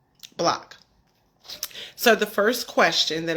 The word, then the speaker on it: BLCK: talk about block again it's pronounced block as a neighborhood you know as in the block that you grew up on block so the first question